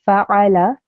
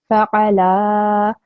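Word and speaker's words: فَعَلَ: So I have to make sure that I say fa'ala, because fa'ala means he did this, okay? Whereas if I said fa'ala, then the meaning would be they both did.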